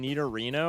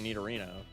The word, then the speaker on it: Nidorino: I put up with Monoclay, but you can't be saying Nidarino. I draw the line. That's literally what it is. Nidorino. Do you say Nidorino or Nidorino? It's literally Nidorino.